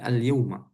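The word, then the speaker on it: اليومَ: Enggak, bukan alyaum. Alyyauma.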